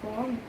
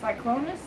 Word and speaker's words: Cyclonus: My favorite transformers from the series are Brutacus and Cloneus. I can't pronounce that. Cyclonus.